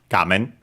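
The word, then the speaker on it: 画面: But yeah, gamen actually accent on the first syllable, on ga, gamen.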